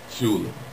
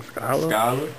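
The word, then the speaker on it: Scolle: S-C-O-L-L-E. Shula. No, damn. I'm gonna give you a second chance. I'm gonna let you see his Twitter, because I think he might have maybe thought about misunderstood it that. I feel like he just understood it. S-C-O-L-L. There it is. This is what you're trying to pronounce. Young Scholar.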